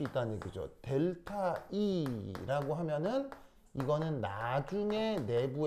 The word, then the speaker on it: 델타: 그래서 삼각형이라고 쓰는데 읽을 때는 뭐라고 읽는다? 델타. 델타라고 읽습니다.